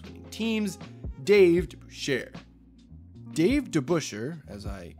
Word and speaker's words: DeBusschere: Dave DeBusschere, as I correctly pronounce his name this time, is another player that almost kind of gets lost to time.